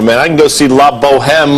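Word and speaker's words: La Bohème: I can go see La Boheme like 6-7 times this week. I mean, you don't pronounce the H, darling.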